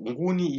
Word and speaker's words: Nguni: When you pronounce Ngoni and Nguni, they should differ there. Ngoni, we mean the people. Nguni speaking people. Nguni is the language now.